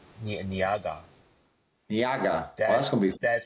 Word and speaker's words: Ngaha: Not Niaga. Niaga. That's gonna be. That's how we pronounce his name, Niaga.